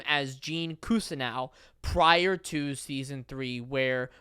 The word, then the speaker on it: Cousineau: was in season three Gene Cousineau pronounces his name his own name as Gene cousin now and so then the